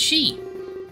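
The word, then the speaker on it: 四: The number 4 can be pronounced she.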